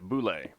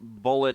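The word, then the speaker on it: bulette: mispronounced as a kid a boule technically bullet is also acceptable i prefer boule bullet sounds silly there we go all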